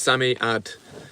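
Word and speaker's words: Psammead: of space in that it's pronounced Sammy at sorry mate it's the sand fairy from five children and it's a children's book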